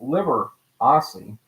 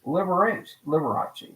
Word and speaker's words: Liberace: But in 1944, the old Mount Royal Hotel changed the name of Walter Liberace, pronounced Liberace, to a more showbiz Liberace, with a hard C Italian pronunciation.